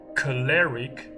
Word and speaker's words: choleric: But the Cambridge dictionary here shows a an o sound for hot in its British pronunciation, in its British accent here.